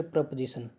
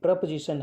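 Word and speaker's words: preposition: Next प्रपोजिशन, प्रीपोजिशन नहीं है ये, प्रपोजिशन है ये, इसका करेक्ट प्रोनाउंसिएशन है प्रपोजिशन।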